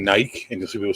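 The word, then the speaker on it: Νίκη: you'll see people saying Nike and you'll see people saying Nike Niki the actual sound of that word said by a Greek person is Niki yeah if it doesn't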